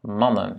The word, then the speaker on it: mannen: Et ici, quand on veut garder ce A court dans la construction du pluriel, on doit doubler la consonne. Parce que qu'est-ce qui se passe quand on double la consonne? Dans ce cas-là, cette structure ne vaut plus. Donc, ça disparaît. Donc, du coup, on a voyelle, consonne, consonne, voyelle. Oh, pardon, voyelle. Donc, du coup, ça reste un A court, mannen, ok?